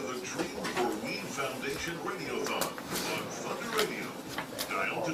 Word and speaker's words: radiothon: Don't say radio-a-thon, because Josh will correct you. It's radiothon. Gotta say it right.